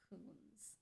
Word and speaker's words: Kunz: Yeah, Kunz, and I'm pretty sure it's pronounced Coons.